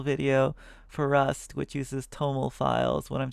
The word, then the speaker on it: TOML: I'm making an instructional video for Rust, which uses Toml files when I'm saying cargo. How should I pronounce it?